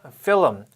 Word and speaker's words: film: 이 문장에서 film, 흔히들 필름이라고 알고 계시죠? 정확한 발음은 film입니다.